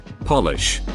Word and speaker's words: Polish: top of your head a capitanum is word that changes its meaning and sometimes its pronunciation when capitalized polish to make shine polish relating to poland remove